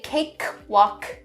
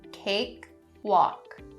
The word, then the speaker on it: cakewalk: Now there are two /k/ sounds in this word but be very careful and don't enunciate them too much otherwise it's gonna sound very awkward. So don't say "cakekwalk," that's very awkward to hear and listen to but also it's difficult to say so make those /k/ sounds subtle but still there. So only a little bit of air coming out "cakewalk."